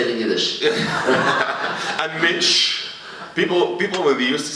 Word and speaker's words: mensch: And mensch. People people would use to say you are a mensch and I would say what what does word mensch mean? And then I get A mensch. Mensch.